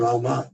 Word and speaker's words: राम: तो But if you chant Ram, I mean that's okay. अगर आप राम करते हैं chant Rama, it's better.